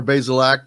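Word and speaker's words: Bazelak: so far with uh tuttle and is it basil act is that how he pronounces his name yeah connor basilak the uh transfer from missouri former sec freshman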